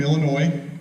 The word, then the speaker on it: Illinois: I'm from Illinois. I'm not necessarily proud of that. The ass is silent. Anybody that says Illinois, you know they're not from Illinois.